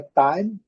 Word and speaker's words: time: A palavra time, terminada com a letra E, que não é pronunciada, então o último som é da letra M. Lembrando, aqui na transcrição, time, fechando a boca ao final.